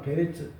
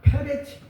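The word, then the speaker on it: פרץ: 우사라고 하는 말은 베레츠 베레스 우사는 히브리 말로 히브리 말로다가 페레치 그 왜 그러면 베레치나 페레치나 발음이 다르잖아요. 근데 성경에는 분명히 페레치라고 써 있어요.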